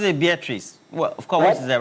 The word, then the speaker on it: Beatrice: Beatrice. She pronounces it Beatrice.